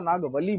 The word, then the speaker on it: नागवली: थोड़ा बहुत अगर एक आधा लेटर चेंज हो जाए तो प्रोनाउंसिएशन का डिफरेंस होता है, ध्यान देना। नागवती को नागवती नहीं बोला था, नागवली बोला था।